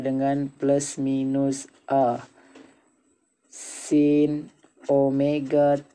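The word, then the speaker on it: ω: Omega seperti W ini bacanya omega.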